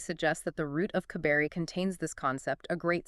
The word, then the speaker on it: Kabeiroi: He points out that the Latinized spelling Cabiri actually obscures how the ancient Thracians and Macedonians would have pronounced it. Right, because they didn't have that hard C sound in the same way. Right. He argues the original pronunciation was closer to Kabeiroi.